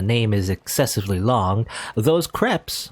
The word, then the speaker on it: crepe: Okay, it's crepe, not crepe. It's crepe, apparently.